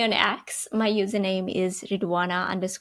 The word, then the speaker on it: Ridhwana: My username is ruana k. Uh my name has a silent h so it's r i dh w a n a k.